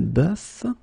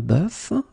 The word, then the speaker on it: bœuf: first one is un bœuf, un cœur. It's actually quite interesting, because even if you write them differently, you pronounce them the same way.